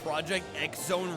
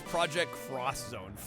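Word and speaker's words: Project X: And I I have no idea why I said Project Exone wrong. It's Project Cross.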